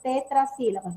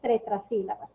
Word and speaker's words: tetrasílabas: Tetrasílabas es la palabra, no es tretasílabas.